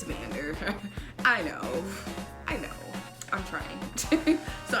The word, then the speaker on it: Vander: I kept saying Vanger, and it's Vander.